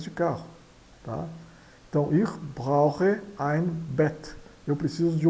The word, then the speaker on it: brauche: Aqui, esse CH aqui soa como R, dois R's de carro, e I soa ein, tá? Aqui, esse CH soa também como dois R's de carro, tá? Então, ich brauche ein Bett.